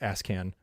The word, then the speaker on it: ASCAN: It's an ASCAN, but it's pronounced ASCAN.